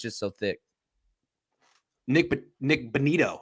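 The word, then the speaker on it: Bonitto: class because it's just so thick nick nick benito how do you pronounce his name yeah bonito um i hate oklahoma i'm a longhorn myself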